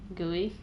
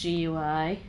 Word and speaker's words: GUI: um for me anyway gooey i can't believe they pronounced it as gooey isn't it just gui personal history where are